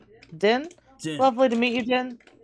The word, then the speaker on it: Din: Oh, I'm Din. Din?